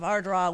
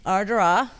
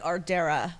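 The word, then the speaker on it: Ardara: Yes, we went to the small town of Ardrah, which is the most... Say it again. Ardrah. Ardrah. How do you spell that? A-R-D-A-R-A. Oh, wow. So it looks like Ardera, but right, it's pronounced Ardra.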